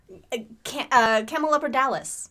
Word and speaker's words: Camelopardalis: But Mike, do you want to pronounce this name? Camel Della Parpis? Partis? Camel-Dippethoppers. What do you call it? Camelopardalis.